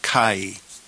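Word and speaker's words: καί: And we pronounce this word kai.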